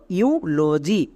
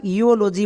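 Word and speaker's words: eulogy: দেব তাহলে কি হল ইউলজি একে আমরা ইওলজি বলতে পারবো না মনে রাখবা ইউ ইউ সাউন্ড দেবে তাহলে আমরা আরো একটি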